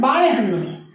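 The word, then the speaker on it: ಬಾಳೆಹಣ್ಣು: friends, यहाँ पर एक और चीज, ये बा ला, ला का उच्चारण जो है यहाँ पे हमारे जो तमिल तेलुगु कन्नड़ मलयाली में एक अलग ध्वनि होती है, जो ल भी नहीं है और अड़ा भी नहीं है, देखिए जब हम लोग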